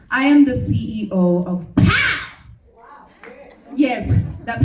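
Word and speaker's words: PAWM: mona munyani and i am the ceo of path yes that's how you say it honey it's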